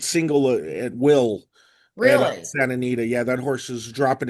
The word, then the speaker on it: Santa Anita: Uh, I don't even know how to oh, it's pronounce Santa it. Anita? Yeah, it's Santa Anita.